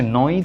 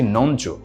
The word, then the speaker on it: নঞ্: আর বাকি তিনটা হচ্ছে নয় তৎপুরুষ সমাস এটাকে আমি অনেক মানুষকে উচ্চারণ করতে শুনেছি নঞ্চ এটা আসলে এটার উচ্চারণ হচ্ছে নয় তো এ ধরনের উদ্ভট উচ্চারণ আমরা করবো না নঞ্চ উপপদ তৎপুরুষ সমাস